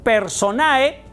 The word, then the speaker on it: personae: decimos o escribimos Perdón personae en latín Sí así se escribe personae pero no se pronuncia la e y entonces decimos